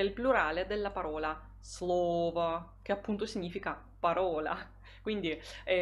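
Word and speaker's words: слово: come quello lì evidenziato eh l'accento tonico si sposterà sappiamo che quando si forma il plurale di un sostantivo se quel sostantivo è del genere neutro e e consiste solo di due sillabe l'accento l'accento tonico quasi sempre si sposterà e noi troveremo parola slova parole Slava Poi troviamo la parola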